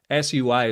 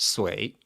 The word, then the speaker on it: Sui: China for so long, SUI is pronounced Sway. So I don't know. Other people say Sui, but that would be American English, I believe. Whereas I say Sway.